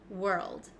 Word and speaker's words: world: pronounce so let's go over this one we pronounce this world world okay let's go step by step because I